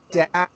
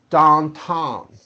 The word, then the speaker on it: downtown: To correctly say the sound with proper pronunciation, here's the trick. You have to make believe the vowel begins with the ass as in hat. Hat. You have that sound, then you close it.